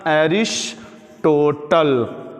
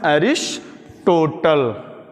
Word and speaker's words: Aristotle: यूज हो रहे हैं, तो इसको बोलते हैं, स्पेलिंग याद रखिएगा, एरिस्टोटल। क्या नाम है? एरिस्टोटल, ARISTOTLE, अरिस्टोटल या अरस्तु।